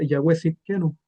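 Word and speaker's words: יהוה צדקנו: Entonces aquí esto se pronuncia Yahweh Sidkenu, o Yahweh nuestra justicia, como se traduce.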